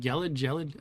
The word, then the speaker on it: gelid: Exposing, yeah, so what I'm getting at next, exposing any part of your body to these, what's that word, gelid?